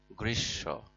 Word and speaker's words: গ্রীষ্ম: দেখি কি লেখা রয়েছে গ্রীস্য বানান দেখো গয় র ফলা দীর্ঘ ইকার মধ্য ময় যুক্ত এখানে মধ্যস স এবং ম যুক্ত হয়ে মধ্যান্য স টা দৃত্ত হয়েছে অর্থাৎ দুইবার উচ্চারণ হয়েছে গ্রীস আসো পড়ে দেখি